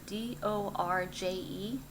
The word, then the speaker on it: Dorje: I don't know how to say this word, D-O-R-J-E, Dorje, the Tibetan symbol for the thunderbolt.